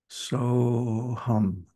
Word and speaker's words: So Hum: And that is a two-syllable sound. So hum.